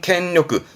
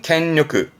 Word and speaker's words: 権力: 발음은 켄요크, 조심할 거 음은 캥이에요. 그래서 항상 대표 단어로 기억해둘 필요가 있죠. 권력은 켄요크.